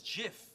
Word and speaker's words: GIF: called gifts or gifs well the G stands for graphics that's a hard G so I say yeah the guy who invented it says it's Jiff I'm sorry do you